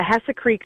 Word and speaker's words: Hesse Creek: Trilogy um and the the trilogy is the Hess Creek series did I pronounce that right yeah yeah Hessa Creek Series yeah okay so tell us a little